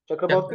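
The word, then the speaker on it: Chakravarty: चक्रवर्ती, इट्स बॉर्ती ना, pronunciation क्या होती है उसकी? बॉर्ती, चक्रवर्ती।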